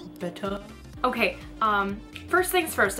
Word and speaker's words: betta: all the steps of betetta fish care and how to set up a betetta fish tank. So, let's get started on betetta fish care. I can already see a comment going, "It's pronounced beta."